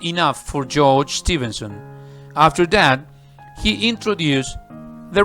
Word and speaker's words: Stephenson: one introduced by George Stephenson you can say Stevenson Stevenson or Stevenson okay both pronunciations are correct well as I said